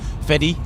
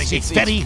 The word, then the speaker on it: Fedde: proper way I mean most people say fety but it's fetty fed thought you in